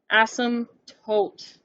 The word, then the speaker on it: asymptote: and she said yeah asymptote no no no asym tote there's a p in the word but it's silent and it's in the middle not the end and i wanted to